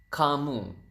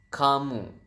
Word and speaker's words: kamu: You is kamu. So ka and mu. So you have kamu.